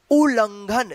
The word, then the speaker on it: उल्लंघन: देखिए यहां पे उल्लंघन कैसे लिखा जाएगा, देखिए यहां पे उ, आधा ल, फिर यहां पे पूरा ल, और इस पे अनुस्वार का उच्चारण हो रहा है उल्लंघन, घ, और यहां पे न। तो ये आपका शब्द बन गया उल्लंघन।